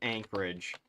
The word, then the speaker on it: Anchorage: Anchorage, or however you pronounce it. Anchorage. It's just Anchorage.